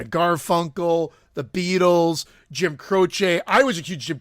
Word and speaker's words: Croce: Are you gonna get mad because he pronounced it Croce and not Croce? B? It is Croce, but it's fine.